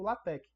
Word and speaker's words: LaTeX: na minha na minha dissertação eu trabalhei usando latex né a gente já escreve latex mas a pronúncia lat que é um modo de você